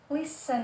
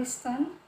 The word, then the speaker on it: listen: Kemudian huruf yang terakhir yaitu T. Jadi listen, ya, bukan listen.